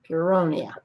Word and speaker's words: Puronia: Puronia.